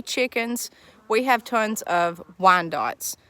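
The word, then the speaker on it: Wyandottes: we have tons of wine dots that's how we pronounce it we've have silver lace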